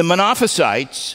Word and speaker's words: Monophysites: The Eutychians and the Monophysites, I said it right that time, the Monothelites and Monophysites, they all went to the opposite extreme.